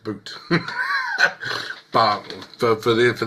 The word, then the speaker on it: Butte: indeed it's actually spelled it's actually pronounced boot but for for the for the case of this is boute cool okay if he's